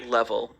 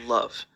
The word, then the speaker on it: LOVE: Um, actually, it's not pronounced level. It's pronounced love.